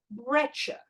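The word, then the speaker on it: breccia: they are angular we call them a breter that's how this is pronounced and that's got nothing to do with my accent everyone calls it a breter on the other hand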